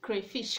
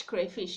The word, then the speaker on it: crayfish: to look at upgrades with the stress placed on the first syllable this is because most